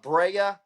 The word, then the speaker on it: Brea: But, you have Brea as well. Am I pronouncing that right? Yep.